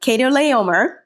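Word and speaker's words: Chedorlaomer: I had to look it up because I'm like, how do you pronounce that? Yeah, but yes, so Kedorlaomer.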